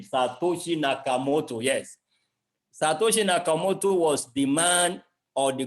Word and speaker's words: Satoshi Nakamoto: chat i want to be sure i'm not mispronouncing the name satoshi nakamoto yes satoshi nakamoto was the man or the group of men